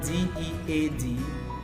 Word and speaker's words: dead: is the word heart and in the word d e a D that is the word dead like when something dies they make an e sound okay so they make